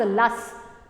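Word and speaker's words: loess: इस called लेस देखो इसको हम लिखते तो loist हैं लेकिन प्रोनाउंस की करते हैं आज लास्ट तो लास्ट बेसिकली क्या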